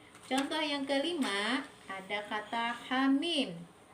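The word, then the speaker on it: حم: Contoh yang kelima ada kata hamim. Hanya kita baca 2 harokat dan mimnya kita baca 6 harokat. Hamim.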